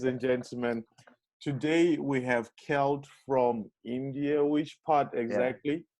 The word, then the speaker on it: Kjelt: guy his name is kels uh kelt how do you say your full name my good sir uh celt swished all right yeah kelt is a danish name is like sanskrit